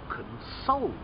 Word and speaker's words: console: playstation ps3 that's a console console stress on the first letter but if your friend is very sad you want to try to console okay another one if